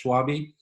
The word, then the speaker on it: Schwabe: Yeah, a lot of people say Schwab. It's Schwabe.